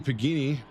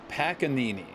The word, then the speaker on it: Panini: uh last week because the pronunciation was was I really wanted to figure this out it's Panini Panini I I got confirmation from Dave himself the pronunciation of the name is Panini I had to no